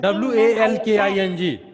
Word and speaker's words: walking: WALKING. Just wait, beta. Yuvraj. WALKING. We have learned this poem 3 times. No one said walking. It is walking. L will remain silent.